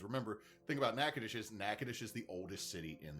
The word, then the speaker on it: Natchitoches: The problem is is there's Nacadesh Louisiana and Nacadocious Texas and they're not spelled the same but they sound similar.